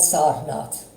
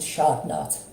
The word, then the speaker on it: Sarnath: Ashoka Chakra is found on a pillar in a place in India called Sarnath. In Bengali we pronounce it Sharnath.